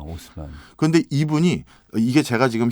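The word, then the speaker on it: Haussmann: 프랑스 파리의 시장으로 만들었냐면 유진 뭐 프랑스 발음이니까 좀 네. 다르긴 하지만 오스만이라는 시장을 하나 임명합니다. 아, 오스만.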